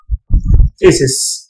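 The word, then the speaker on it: phthisis: Ancient time की अगर हम बात करें, इन ancient time it was known as थीसिस, ये साइलेंट है इसमें, इट was known as थीसिस which means wasting away.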